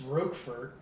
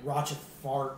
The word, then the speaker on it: Rochefort: It's Rochefort, not Rochefort or whatever the fuck you said earlier.